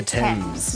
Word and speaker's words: Thames: that runs through london is called the thames not the thames the thames river i know i got